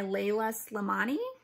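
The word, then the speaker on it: Leïla Slimani: The next one I bought was The Perfect Nanny by Layla Slimani. That's how you pronounce her name.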